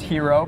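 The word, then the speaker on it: HXRO: go to hxr oh so it's pronounced hero but we bring the ex we bring the ex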